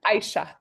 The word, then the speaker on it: Aisha: Aisha.